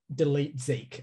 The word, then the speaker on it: DLT ZK: spelled dlt zk so there's no vowels in it but it's pronounced delete zeke i learned about this